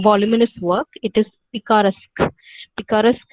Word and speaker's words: picaresque: work it is picarasque picaresque as in epicurus novelis wherein you follow